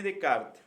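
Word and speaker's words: Descartes: podemos definir que era rené de kart o descarte se escribe descarte rené de kart era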